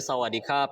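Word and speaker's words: สวัสดีครับ: kalau laki-laki belakangnya ada sebetulnya ada huruf RO nya sih di situ jadi kerap gitu ya tapi mereka bacanya cepet Jadi sawadikap kalau perempuan sawah Jadi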